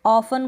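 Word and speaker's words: often: तो कासल को कास्टल ना पढ़ें, ऑफन को ऑफ्टन ना पढ़ें, लिसन को लिस्टन ना पढ़ें। तो ये आप ध्यान रखें, इन तीनों स्पेलिंग्स में T साइलेंट है।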